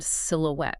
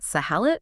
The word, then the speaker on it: silhouette: The source details the phonetic butchering of the word silhouette. How were they saying it? Students were pronouncing it sahalit or even Sylvia. Yeah, Sylvia.